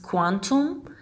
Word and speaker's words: Qtum: kutum the founders of qtem pronounced quantum sought to combine some